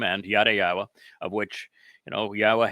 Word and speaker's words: Yahowah: and yada yawa uh even yawa which is the proper pronunciation that I introduced of Yahwa's name to disparrage me everyone